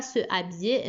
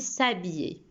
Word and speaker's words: s'habiller: qu'on ne prononce pas on ne dit pas ce biais mais on dit s'habiller donc pourquoi j'ai dit